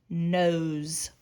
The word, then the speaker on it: nose: doesn't say anything os nose it sounds like a z but we know that nose is not spelled with a z it's just spelled with an s you will learn these